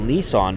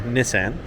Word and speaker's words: Nissan: frontier Nissan Frontier sorry Nissan so people are going to be like that's not how you pronounce it that's how they pronounce it in Japan where it's from um wow nice little